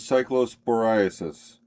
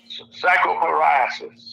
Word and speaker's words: cyclosporiasis: Ira, the pronunciation is cyclosporiasis. Cycloporiasis.